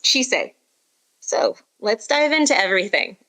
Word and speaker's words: Chise: And as for pronunciation, it is Chise.